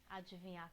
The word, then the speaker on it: adivinhar: com esse dê muito esse D não é mudo gente adivinha queguinha esse que às vezes coloca o d mudo para falar ah adivinhar mesmo porque eu deito um som próprio não é adivinhar com